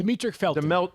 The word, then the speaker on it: Demetric Felton: and, I don't know if I'm going to pronounce the guy's name right, Demetric Felton? Demetric Felton.